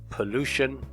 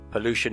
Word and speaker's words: pollution: without talking about pollution note the stress pollution pollution is a huge problem